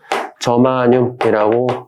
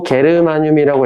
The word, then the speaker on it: 저마늄: 읽을 때는 저마늄이라고 읽습니다. 근데 또 게르마늄이라고 읽어도 돼요. 이거는 그 영국식 발음이랑 독일식 발음 차이니까 큰 의미는 없다.